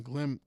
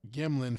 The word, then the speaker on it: Gimlin: Norm Johnson had been working in a Boeing lab during the years that the Patterson Patterson Glim Gimlin film. Sorry, I keep mispronouncing his name.